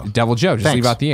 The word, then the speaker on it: Deviljho: to help settle it the H is silent when saying deviljho okay w deviljho thank you about the